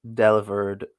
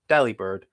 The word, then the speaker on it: Delibird: that Delibird is pronounced Delibird, but the V is replaced with a B? Yeah, because it's because the words are delivery bird, so it's Delibird, which confused me for